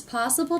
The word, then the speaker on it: possible: A lot of people ask me if it's possible to sound like a native speaker. If it's possible to sound. If it's possible to sound. So I notice the stress here. Possible. First syllable is stress.